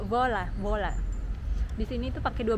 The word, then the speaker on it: Voila: Ini tulisannya Voi La Hotel, tapi itu pronunciation itu kayak Vola.